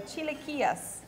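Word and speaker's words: chilaquiles: Next we have the Chileas.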